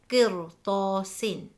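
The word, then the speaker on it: قِرْطَاسٍ: If the answer is yes, then we will read the letter ra heavy, as the example, qirtasin.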